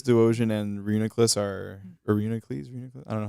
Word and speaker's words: Reuniclus: I think it's pronounced Reuniclus. I think.